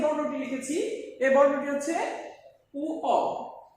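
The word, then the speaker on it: ঙ: প্রথমে যে বর্ণটি লিখেছি এই বর্ণটি হচ্ছে উ অ, এটার উচ্চারণ উ অ, অনেকে উমো উচ্চারণ করি, উমো ভুল উচ্চারণ।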